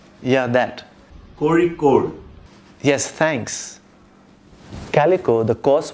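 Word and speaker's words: Kozhikode: spelled K-O-Z-H-I-K-O-D-E, and it's pronounced, well, I can't pronounce it, so I got a friend to say it for me. Kori-Kor. Yeah, that. Kori-Kor.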